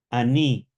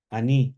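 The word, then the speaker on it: אני: Aní, anoji, tiene dos formas. Aní, anoi, recuerden siempre el texto de Amó, ya lo navi anoji, no profeta yo, ¿cierto?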